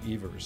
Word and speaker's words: Evers: New York where I came from calls me ERS so really either one is okay going back